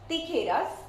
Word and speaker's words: tijeras: So as in my previous session, if you have watched those videos, I have mentioned that J we call it as jota in Spanish. So this gives you sound of k. So it's tijeras.